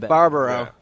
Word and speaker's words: Barbaro: How do you pronounce it? Barbaro. Yeah. Did I say it right? Barbaro. Okay, Barbaro.